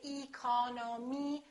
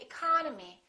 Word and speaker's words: economy: did with these words look at the first word economy the second syllable is tressed therefore this e and this o are reduced we don't say economy we say economy economy look at this one